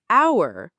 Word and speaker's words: hour: "hour" bắt đầu bằng "h" nhưng chúng ta không phát âm "h". Vậy nên, nó nghe giống như "our".